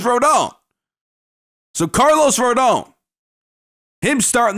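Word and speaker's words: Rodón: off with Carlos Verdon now I looked up to the pronunciation of his name it is rhodon so Carlos Verdon him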